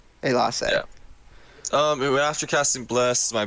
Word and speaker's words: Elasse: Let's E's are pronounced as A's. Yeah. It's the way you can remember it. Yeah, Elasse. Elasse.